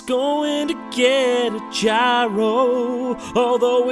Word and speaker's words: gyro: to get get a gyro although it's technically pronounced hero although I still want to call it a gyro cuz it sounds cooler stomach dude are you going